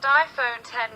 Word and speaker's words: iPhone X: the iPhone X pronounced iPhone 10 represents the most radical